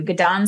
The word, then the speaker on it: Gidon: special guest for you gdan Soo um pronounced like Get on Up um is with us